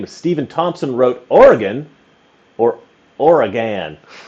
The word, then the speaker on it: Oregon: they will Lynch you oregonians hate when people mispronounce or Oregon there's different ways some people say Oregon some people say Oregon like the E the old I think people used to say Oregon more with the e sound and now they